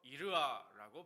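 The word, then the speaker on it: יִרְאָה: 히브리어로 이르아라고 발음하는데 단순히 무서워서 떠는 그런 공포가 아니고요.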